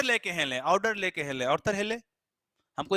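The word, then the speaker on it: Arthur Hailey: अगर आपको ऑर्डर लेकर हिले भी अगर आप बोल रहे हो ऑर्डर लेके हिले, तो दैट इज द ऑर्थर हिले। इसका सही प्रोनाउंसिएशन ऑर्थर हिले।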